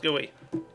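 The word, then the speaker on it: GUI: I like a huge gooey and yes it's pronounced gooey nobody believes me that it's pronounced gooey all right guys my modular cart is complete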